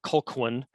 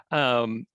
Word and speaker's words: Colquhoun: As you can see here and yes, it took meeting someone in Scotland to stop pronouncing his name as Patrick "Col-qu-houn," which I did for a while. So it's Patrick Colquhoun (Cal-HOON).